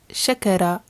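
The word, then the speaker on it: شكر: This one is pronounced shakara, shakara, and it means to thank.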